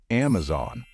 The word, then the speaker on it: Amazon: trouble with this one the correct way to say it is Amazon pay attention the stress gear is on the first syllable it's not Amazon it